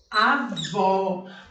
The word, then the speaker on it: avó: O agudo, o sonzinho é aberto. Avó, avó é aquele sonzinho aberto.